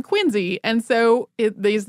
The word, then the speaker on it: Quincy: who the city of quiny is named for pronounced his name quiny and so it these names are pronounced quiny it probably shocks people who have said it Quincy their whole lives but that's uh how it